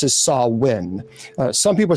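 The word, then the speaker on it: Samhain: Uh it's officially pronounced as Sawin. Uh some people say it's Sam Hayne.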